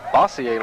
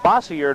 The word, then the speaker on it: Bossier: Louisiana's all-star hometown looks like Bossier to me, but of course the pronunciations in Louisiana just a little bit different from other places. Bossier, the home of this all-star team, which now has a 4-0 lead.